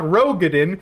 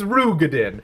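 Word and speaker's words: Roegadyn: But according to Cooji Fox, it's not Rogadan, it's Rugadin.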